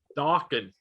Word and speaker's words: Dawkins: Dawkins. That's right. Rhymes with rockin'.